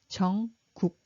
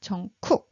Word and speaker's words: 정국: And at the bottom, it pronounced as 크 sound. So it should be 정국, 정국, not 정쿡, because you don't see any 크 here.